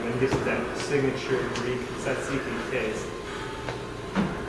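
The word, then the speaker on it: tzatziki: giv that signature Greek saiki taste I can't tell saiki it's a t saiki TZ saiki T saiki yes it's a sauce you'll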